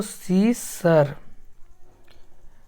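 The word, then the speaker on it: scissor: पढ़ रहे हैं, तो सी सर, जेड को सा पढ़ दिए, यू को आ पढ़ दिए, और ई साइलेंट है, आर को रा पढ़ दिए, तो सीसर, इस तरह से सीसर पढ़ाएगा।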